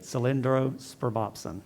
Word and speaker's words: cylindrospermopsin: Cylindrospermopsin.